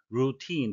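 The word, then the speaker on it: routine: 파손된 물품이란 뜻이 되겠습니다 루틴 발음에 의해서 되겠는데요 외로울은 루틴이라고 쓰는데요 영어식 발음은 루틴 다 장음이고 엑센트가 뒤쪽에 있습니다 임위치 이것을 통해서 통상적으로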